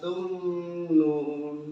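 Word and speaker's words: تمنون: Afara'aitum ma tumnun. Nah, mimnya ada tanda sukunnya menandakan dia dibacanya jelas aja. Ya biasa. Biasa aja bacanya. Afara'aitum ma tumnun. Jangan dengung. Lama sedikit ya.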